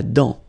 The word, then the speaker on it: dent: La dent, final T, not pronounced. La dent.